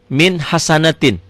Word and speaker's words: min hasanatin: Kembali, min hasanatin. Pertanyaannya apa hukumnya? idhar. Kenapa? Karena nun mati, nun sukun ketemu ha. Tuh. Tulisan dan bacaan sama. Ditulisnya min hasanatin, dibacanya juga min hasanatin.